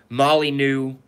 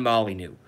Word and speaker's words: Molyneux: his first name wrong it's actually stefan molyneux so it's a ste pH a n Molly new M Oh L Y n EI u X Stefan Molly new watch everything he's ever